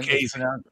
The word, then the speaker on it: Lucchese: Lucchese. It's pronounced Lucchese, Oh, which is fine.